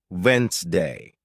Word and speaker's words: Wednesday: For example, you might see the word Wednesday and think it's pronounced exactly as it's spelled, but listening teaches you it's actually pronounced Wednesday.